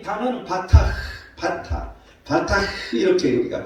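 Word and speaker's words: בָּטַח: 신뢰한다는 이 단어는 바타 이렇게 우리가 발음할 수 있어요.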